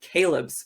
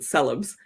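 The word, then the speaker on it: Coelebs: to read nothing but Caleb's for the rest of her life calebs or some pronounce it celebs was Hannah Moore's exceptionally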